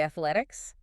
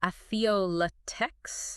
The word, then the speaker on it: athletics: Athletics. Athletics. That one's a little tricky for me because I want to say a latex. Atheolatique. That's a common one. But athletics. Athletics. Okay. Just three syllables.